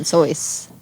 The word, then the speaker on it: Seuss: It's the German pronunciation, Seuss.